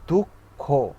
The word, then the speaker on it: দুঃখ: যেমন দুঃখ, দেখেন খটাকে দুইবার উচ্চারণ করতে হয় সেক্ষেত্রে।